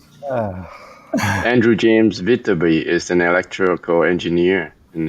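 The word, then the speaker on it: Viterbi: Vitaby, I think it's how it's pronounced. ah, Andrew James Vitaby is an electrical engineer and a businessman who co-founded Qualcomm Inc.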